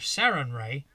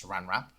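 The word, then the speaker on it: Sarenrae: so for example a lawful good worshipper of saren Ray will have a different edicts and anathemas than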